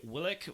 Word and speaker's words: Willeke: That is one thing with the Dutch language, like you pronounce every syllable. Willeke, like I don't know if I'm explaining that right, but yeah. Yeah, it's not like mashing them together.